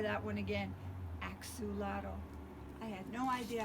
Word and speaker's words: axolotl: in case you're wondering my name is pronounced axolotl axolotl I better say that one again Axew lado I had no idea